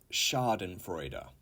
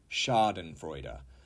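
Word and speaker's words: Schadenfreude: the key to watch the boats 30 is Sharden freuder Sharden freuder and that is a German word however we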